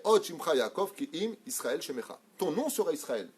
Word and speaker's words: Israël: C'est pas IZ. Z, c'est pour Zoro. Israël.